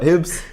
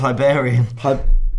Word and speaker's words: Hibernian: Poor as well against Hibernian. That's not how you say it, No, it's Hibernian.